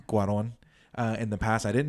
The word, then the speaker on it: Cuarón: Alfonso Cuarón. Cuarón.